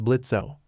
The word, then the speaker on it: Blitzo: His name is Blitzo, the O is silent.